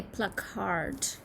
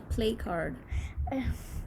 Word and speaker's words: placard: Is it pronounced? Placard, It's a Placard. placard. It's not a play card.